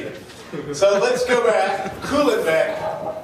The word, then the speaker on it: Kuhlebeck: heard of me either so let's go back cooling Beck it's very easy name cool in back it's a very rare name you can Google